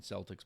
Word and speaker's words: Celtic: I know you that's the proper pronunciation, not the Boston Celtics, but the Celtic people.